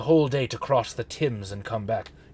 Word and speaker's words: Thames: It took me the whole day to cross the Thames and come back. It's pronounced Thames.